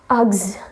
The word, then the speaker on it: Uggs: No, it's not UGG at all, it's Uggs. Yeah, repeat after me, it's Uggs.